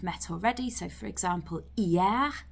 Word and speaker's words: hier: So for example, hier, meaning yesterday, obviously you've got that silent H at the beginning there as well.